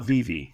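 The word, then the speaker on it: Vevay: Um, I never say it right. Vivi Indiana or Vivv Indiana. V. Today they call it Vive. Vivv Indiana. Okay. It's it's it's uh Swiss, but Vive is how they call it.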